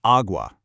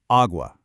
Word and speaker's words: água: It's pronounced agua, nice and open. Let me model that one more time and give you a beat to practice, agua.